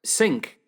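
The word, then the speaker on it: Cinque: people out in Canada and States hi guys sink seems an odd term but it's actually the English pronunciation of sank the French five because they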